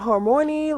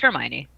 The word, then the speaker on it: Hermione: to pronounce the name is it Hermione is it hermony like what is yeah it's Hermione at that's what it was in the movie and so I'm like whatever so they made her Hermione black and the internet